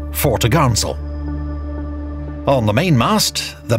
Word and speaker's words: topgallant: Her large, square sails included the forecourse, fore topsail, pronounced topsail, and fore topgallant sail, pronounced foretogarnsail.